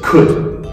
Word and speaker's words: could: So first one is just could. Could. Should. Should. Good. Good. That's the way we pronounce would. Exact same way. The ud, ud, ud.